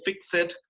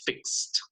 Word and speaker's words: fixed: No se dice fixed, se dice fixed en pasado.